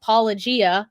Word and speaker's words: Paulogia: There is a YouTube channel called Paulogia. It's like apologia, like apologetics, but his name is also Paul.